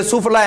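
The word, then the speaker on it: سفلیٰ: تو یہ جتنے بھی سفلا علوم ہے جن کو سفلی عام طور پر بولا جاتا ہے، تو یہ سفلا ہے عربی کا اصلی تلفظ.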